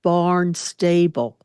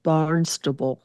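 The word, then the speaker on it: Barnstable: tan was barnable and he said Barn stable because it's spelled that way but up there they call it barnable no one local that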